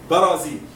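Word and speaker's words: برازيل: Whenever you pronounce it in Arabic, we say Barazil. Barazil. Look to the ba. We say ba. Barazil.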